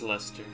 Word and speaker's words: Leicester: It's Leicester. That's how you say it, the English city, at least. English city, Leicester.